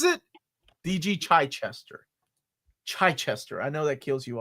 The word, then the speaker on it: Chichester: The man pronounces it D.G. Chichester.